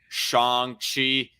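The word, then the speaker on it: Shang-Chi: plus at all but i recently watched uh shang chi or shang chi as his name is actually pronounced i wasn't too impressed i i liked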